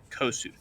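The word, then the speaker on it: Kossuth: of flames goes by a specific name joseph spell that please k-o-s-s-u-t-h kosuth he's known as the fire lord lord of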